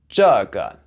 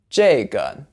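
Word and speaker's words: 这个: The first one is that 个, which means one of something, is usually pronounced with a fourth tone, but in these words, you can say it with a neutral tone. It's a lot easier if you just emphasize the first character.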